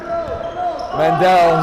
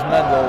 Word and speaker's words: Mandel: wait a full year Mandel who I was apparently pronouncing his name wrong I thought it was Mendo which I like better but it ends up